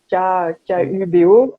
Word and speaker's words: Kubo: Kubo, même si ça s'écrit avec un K-U-B-O, en fait, un seau ou un carré, ça se dit Kubo en espagnol.